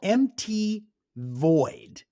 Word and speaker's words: MTVoid: um a band called Mt void uh and it's spelled MTV oid like mt void so like MTV MT